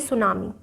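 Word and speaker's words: tsunami: Known as टी सुनामी। मैंने बोला था टी साइलेंट रहता है, सुनामी ला देती है।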